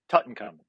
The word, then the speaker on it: Tutankhamun: It's pronounced Tutankhamun.